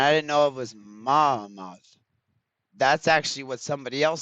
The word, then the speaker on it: Muhammad: Manish, Mamad, and I didn't know it was Muhammad.